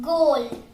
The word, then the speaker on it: goal: For example, goal. The O is giving a long vowel sound, and it is giving a O sound, long O, and the A is silent.